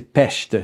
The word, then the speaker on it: Pest: Dans le fond, c'est prononcé Pest, donc Budapest.